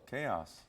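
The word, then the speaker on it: KAOS: in a room called chaos but with a k with a k you're with a c-h-a-o-s this is the k-a that's true that is true pronounced the same way right right right you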